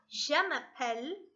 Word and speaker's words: je m'appelle: name is and it's said as je m'appelle jamappelle can you say that